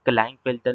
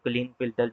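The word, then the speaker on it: Klinefelter: अब आता है क्लाइन फिल्टर भी बोल सकते हो, क्लीन फिल्टर भी बोल सकते हो। Depends on your pronunciation.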